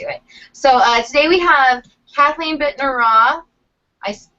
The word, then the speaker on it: Kathleen Bittner Roth: So today we have Kathleen Bittner Roth. I pronounced that right?